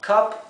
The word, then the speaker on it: cup: Would you like a cup of tea? ¿Te gustaría o quisieras una taza de té? Así que cup significa taza. La U se pronuncia entre una A y una E.